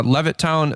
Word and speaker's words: Levittown: um well hey you guys are from uh levit toown Pennsylvania did I say it right yeah yeah all right well we got Josh and Colin from Levittown Pennsylvania over here on the podcast and um